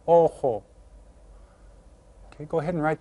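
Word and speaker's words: ojo: called Elo Elo and remember the J sounds like an H Oho okay go ahead and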